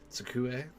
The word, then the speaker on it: 机: Oh, that initial T is a little hard for me to pronounce. Tsukue? 机 Skue.